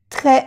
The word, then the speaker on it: très: Très mal. Aquí tampoco se pronuncia la S.